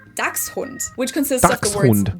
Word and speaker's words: Dachshund: I didn't even know people were saying something in German because this word is pronounced Dachshund or Dachshund even, while in Germany it would be Dachshund, which consists of the words Dachs, meaning badger, and Hund, which is dog.